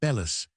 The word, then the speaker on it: bellows: I know a man who always calls them bellis, which is, I believe, the professional pronunciation.